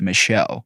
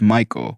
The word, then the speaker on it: Michael: and again this girl was adamant it was pronounced Michelle mom bemused said something along the lines of it's literally a name from the Bible pronounced Michael and has been for thousands of years the